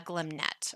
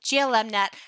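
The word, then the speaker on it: glmnet: multinomial distribution um with a glimnet or glm net however you prefer to pronounce it i am i am neutral on that issue you can say that however you want so this is going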